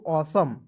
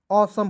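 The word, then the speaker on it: awesome: उसके बाद देखिए यहाँ पे AWESOM, तो पढ़ेंगे दोस्तों ऑसम। क्या पढ़ेंगे? ऑसम पढ़ेंगे। डायरेक्ट पढ़ लीजिएगा, SOME को मैंने बताया, सम पढ़ेंगे और AWE को अ पढ़ेंगे। ठीक है, अ पढ़ेंगे।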